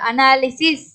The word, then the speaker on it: analysis: இங்க வைக்கு வந்து என்ன சவுண்ட்? ஐயோட உச்சரிப்பு தான் கொடுக்குறோம். ஈ சவுண்ட் வருது. அனாலிசிஸ்.